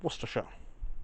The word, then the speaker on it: Worcestershire: that is some Peter Anson Paul Eastern in Worcestershire and that's how you pronounce it by the way so if you